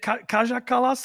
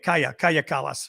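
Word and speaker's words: Kaja Kallas: there you go okay oh you pronounce it kaya okay so the j kaya kalas yep um they they like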